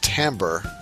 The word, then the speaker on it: timbre: same thing and that timbre is pronounced timbre it is interesting that